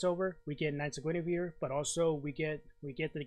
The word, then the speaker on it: Guinevere: So as Dana says, it's Knights of Guinevere, not Guinevere. No, it's Knights of Guinevere. Okay. So hey, I got it. I pronounced it correctly.